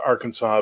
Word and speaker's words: Arkansas: the French which is spelled Aransas but is pronounced Arkansas because the French get tired of saying words